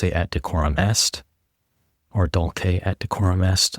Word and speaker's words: Dulce: First World War entitled Dulce et decorum est or Dulke et decorum est, I suppose we should pronounce the hard C here.